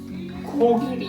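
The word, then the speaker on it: 코끼리: It's not like G and K. It feels like it's always somewhere in the middle.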